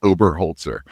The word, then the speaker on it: Oberholtzer: It's Oberholtzer. It's just how it spells, but it's a lot of syllables there.